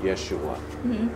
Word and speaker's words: Yeshua: so they used why so would have been pronounced Yeshua which is today which is Joshua and so